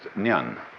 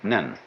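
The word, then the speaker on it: 念: It's pronounced nyan. In Japanese, nen.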